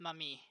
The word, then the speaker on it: Mami: They pronounce like it's pronounced Mami. They say mommy, Mommy-chan.